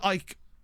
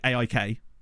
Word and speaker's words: AIK: po right hammeron versus Ike not Ike sorry aik I've heard them sometimes